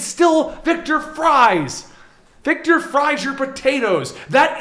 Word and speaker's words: Fries: Victor Freeze, I thought. Right. But it's not spelled freeze. I don't Yeah. care what you say. Yeah. No, Yes. it's F-R-I. It's spelled like fries. It's fries.